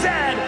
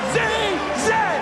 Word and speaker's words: Z: And it is pronounced Zed, not Z-Z.